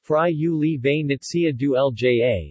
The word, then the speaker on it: Friuli-Venezia Giulia: Friuli-Venezia Giulia, pronounced Friuli-Venezia Giulia, is one of the 20 regions of Italy, and one of 5 autonomous regions with special statute.